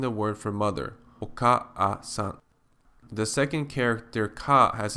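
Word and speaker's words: お母さん: Because the same vowel sound is repeated twice, it is very awkward to pronounce the second a separately. In fact, if you pronounce oka-a-san quickly, oka-a-san, oka-a-san, oka-a-san, you will find that the second vowel easily merges with the first.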